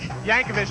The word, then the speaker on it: Yankovic: pronounce that last minute Yankovic Yankovic just like you think and we are standing